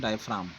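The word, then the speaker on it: diaphragm: डायफ्राम, हाँ, वो जी का प्रोनाउंसिएशन नहीं होता है, डायफ्राम।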